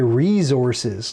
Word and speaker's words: resources: Southern Ontario, we say resources, like it's a Z. Oh, we say Z. That's another one. Like it's a Z in the middle of the word resources.